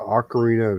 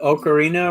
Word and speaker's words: ocarina: pronouncing it because uh ocarina is how the italians the creator of the instrument they pronounce it ocarina which means that